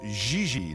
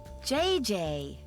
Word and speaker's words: Gigi: JJ. En français, you pronounce G like J and J like G. She may very well be JJ in America, but in France, she is Gigi.